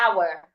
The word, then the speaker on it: hour: take a deep breath the letter H should not be heard for example our I should not say the H sound I shouldn't say how no I would just say hour another example is honest